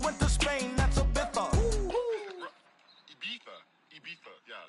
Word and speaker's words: Ibiza: I just went to Spain, that's a Ibiza. Ibiza. Yeah, it's pronounced Ibiza, actually. What's the difference, man?